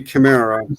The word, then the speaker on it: Chimera: But yeah, it would be a ch sound. Like But like chronos, you know? yeah, so in English it would be Chimera.